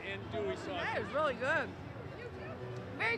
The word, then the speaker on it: andouille: Well, I'm going to taste your little, I can't say andouille, but. You did. Andouille? L's are silent. You did say it right. Andouille sausage.